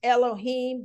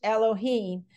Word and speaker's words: Elohim: we have the ruach Elohim and that is pronounced Elohim that is correct spelling from Hebrew to English Elohim breath of yeah uh what we understand is